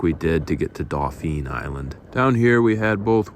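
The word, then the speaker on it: Dauphin Island: Dolphin Island, although it's spelled Dolphin Island, was something of a highlight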